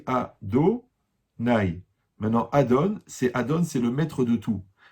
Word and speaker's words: Adonai: Par contre, comment on prononce le nom? On dit Adonai.